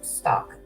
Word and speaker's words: Stauch: And some people call it Stauch, some people call it Stauch, but it's pronounced Stauch. I hate to use this example, but like as in stalking someone.